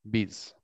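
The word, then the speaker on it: Biys: B-I-Y-S, B-I-Y-S, bees. Bees. They call it bees.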